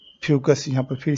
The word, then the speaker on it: Fucus: दिया है फोकस, और यहाँ पर फोकस नहीं फ्यूकस होना चाहिए, तो स्पेलिंग गलत है, यहाँ पर होगा आपका फ्यूकस, FUCUS।